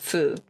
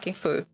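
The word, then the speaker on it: ふ: Now we have the uh who which is not pronounced who. This is wrong. Uh it is pronounced fu. Okay. It's a foo.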